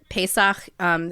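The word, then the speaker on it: פסח: So, Passover, or Pesach, is how you say it in Hebrew.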